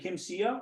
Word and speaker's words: Kim Sia: you of course yeah is it kim sia or am i saying it wrong yes uh no you are fine can i can you